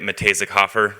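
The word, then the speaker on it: Muh-Tay-Zik Hof-Er: I'm the head of the media capability at Matejzik-Hofer. That's how you pronounce our agency name.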